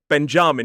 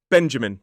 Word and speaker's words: Benjamin: I heard this name go really badly wrong in a hospital recently where somebody was saying Benjamin. Benjamin. It is not. It is Benjamin.